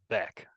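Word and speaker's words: bech32: but that be32 algorithm do you pronounce that as Beck or bch or I I'd always pronounced it as Beck yep okay Beck yeah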